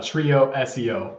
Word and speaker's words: TrioSEO: little bit about um now is it trioo SEO or trioo how do you how do you say it it's a trio SEO we focus on SEO Trio SEO all right and I'll